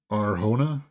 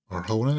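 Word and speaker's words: Arjona: Adria Arona. Arona is how you pronounce it. You don't pronounce the J right in her last name.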